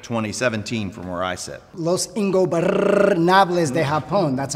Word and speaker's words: Los Ingobernables de Japón: Los Ingobernables de Japón, that's how you say it, Mark, have had a heck of a 2017.